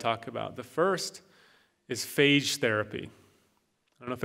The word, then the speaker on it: phage: I want to talk about the first is phage therapy I don't know if anyone has heard about this but this is a fascinating new development if you're keeping taking notes phage is pH AG e phage which is short for bacteriophage so over close